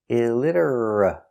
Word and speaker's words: illiterate: That's right, the T is pronounced with a D between vowels. Pronounce D. Illid. Illiter. illiter, illiter, illiterate, illiterate, illiterate, illiterate. Stop T at the end. Illiterate, illiterate, illiterate. 4 syllables. Stress on the second syllable. Illiterate. Stress on lid.